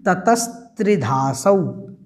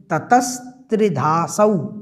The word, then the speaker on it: ततस्त्रिधासौ: उसके बाद में देखें तो ततस्त्रिधासौ, कुछ लोग इसमें कंफ्यूज हो जाते हैं उच्चारण करने में, आपको ध्यान रखना है ततस्त्रिधासौ, ततस्त्रिधासौ इस प्रकार से इसका उच्चारण करना है।